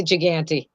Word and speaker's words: Gigante: Is that how I pronounce it? Gigante? That's fine. Some people say it that way. Some people say Gigante.